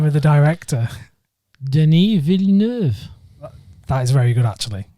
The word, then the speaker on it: Denis Villeneuve: directed by, now here's the thing, can you pronounce the name of the director? Denis Villeneuve.